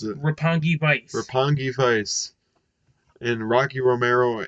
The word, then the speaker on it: Roppongi Vice: Going into the Rampage side of things, the Young Bucks beat, how you pronounce it? Roppongi Vice.